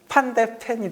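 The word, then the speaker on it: Van de Ven: 독일에서는 판데펜이라고 하죠. 독일에서는 다른 국가 선수들이 오더라도 독일식으로 발음해요. 그러니까 루디 펠러죠. 예. 그 영국 코멘터리에서는 루디 볼로라고 예, 그렇죠. 예전부터 많이 했거든요. 예, 그 마이클 발락이라고 하고 그 원리대로라면 판더펜, 판데펜이 되죠.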